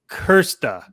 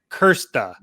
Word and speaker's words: Krste: so how do we say it it's kirsten kersta like that yeah yeah okay great so i've